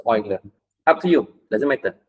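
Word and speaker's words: Euler: It's oiler. Up to you doesn't matter. This how we spell it.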